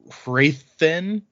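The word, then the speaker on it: Hrathen: unquote correct so uh i'm gonna say rowden because that's how i say it in my head and wrathen even though technically it's rayodin and raythen but an interesting note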